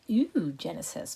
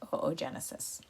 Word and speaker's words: oogenesis: got oogenesis on the right it looks like ew genesis but it's pronounced oogenesis let's make a note at the top to